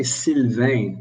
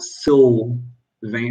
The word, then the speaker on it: Sylvain: hear the pronunciation sylvain when i say sylvain with a french accent um english people cannot hear that the l is different it's not so vain it's in french the l is clear and the vein it's a nasal it's not vein and so english people usually pronounce my name sylvain which is considerably different really but understandable because in